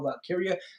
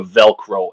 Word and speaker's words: Valkyria: So on Raw, they have the first ever women's Intercontinental champion, which is her name is Lyra Valkyria.